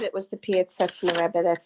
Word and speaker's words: Piaseczno: That was the Piaseczno Rebbe, yes. Okay, did I say it right? Yes, Piaseczno Rebbe, yes.